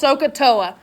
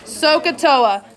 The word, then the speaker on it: SOHCAHTOA: It's pronounced SOHCAHTOA. Okay, SOHCAHTOA.